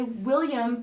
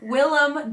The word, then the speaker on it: Willem: and I know it I want to say William but it's William William Willem Dafoe he plays Nosferatu and